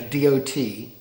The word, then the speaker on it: DOT: department of transportation a d-o-t i think i believe what it stands for so it's pronounced dot d-o-t uh then a number